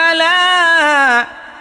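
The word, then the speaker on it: على: হ্যাঁ, তাহলে দেখেন, ওয়া হুয়া আলা কুল্লি শাইইন কদির। বলেন তো, বলেন, পড়েন। আবার তাবারাকাল্লাযী বিয়াদিহিল মুলকু ওয়া হুয়া আলা কুল্লি শাইইন কদির। আচ্ছা, আলা বলতে আইনের উচ্চারণটা এখনো ক্লিয়ার হয় নাই।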